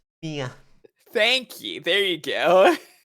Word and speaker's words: Mia: Maya? Is that how you pronounce that name? Ara. No. We're sharing her. It's different. They're two different characters. Mia.